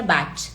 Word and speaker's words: Bach: meu aluno nem sabe tem a pronúncia a pronúncia correta é Bat tá é só que as pessoas falam b